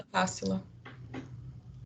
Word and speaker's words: Tássila: É Tássila ou é Tassila mesmo? Tássila, eu né? acho que é Tássila, a pronúncia do nome Tá. dela é Tássila.